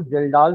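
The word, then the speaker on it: Kjeldahl: कर रहे हो ना के साइलेंट है बाकी जे इ एल डी ए एच एल तो उस लॉन्ग नेक्ड फ्लास्क को जेलडा फ्लास्क बोल रहे हैं।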